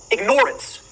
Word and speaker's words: ignorance: I tell people, start pronouncing it ignorance. Ignorance. Then people will hear the word ignore in it, and the connotation becomes clear.